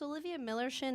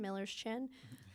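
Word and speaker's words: Millerschin: is Olivia Miller shin it's but like if you had a friend named Miller it'd be his chin Miller's chin it's fake German so you can pronounce it however you want to and fake Germany it's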